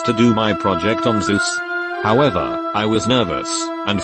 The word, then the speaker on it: Zeus: presentation a kid asked you do know it earth pronounced zeus right jesus christ i'm dead